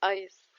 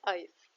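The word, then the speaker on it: Eis: ودي بننطقها او او تواني شفره معانا هي اي اللي جايه من الضرب واللي موجوده في كلمه ايس يبقى ايه اي بتتنطق اي زي كلمه ايس بعد كده عندنا شفره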